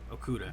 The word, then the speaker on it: Okudah: I can't pronounce his last name that well. Okudah. Okudah, yeah, there you go.